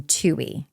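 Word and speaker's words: Twohey: was just informed that her name is Megan Tui so the W I think is silent baldoni and the other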